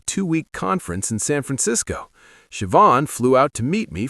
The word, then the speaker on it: Siobhan: Her name was Siobhan, pronounced Siobhan. She taught me after I butchered it 3 times.